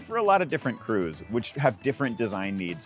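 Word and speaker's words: krewe: that we had and crew since those days is spelled k-r-e-w-e which is a fake old english spelling of just the word crew c-r-e-w and crews are social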